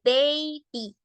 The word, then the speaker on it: baby: Entonces, en este caso de la palabra de arriba, recordemos que la A, en este caso, es una A larga. Se pronuncia A, bay, y recordemos que la Y se pronuncia I, baby.